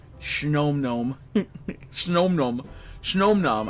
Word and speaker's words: Snom: I don't think it's pronounced like no. Me neither. Me neither. Snow. Me neither. But it's snow, so it kind of made sense. So Snom, gnome. But that's, I think it's Snom, like Nam.